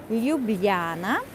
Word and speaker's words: Ljubljana: that cute yeah so Li Luana maybe it's a bit difficult to pronounce so LJ u b l j a n a Liana and in all Slavic